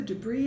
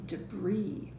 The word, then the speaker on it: debris: Sometimes when an S is at the end of the word, like in debris and Arkansas, we don't pronounce that S.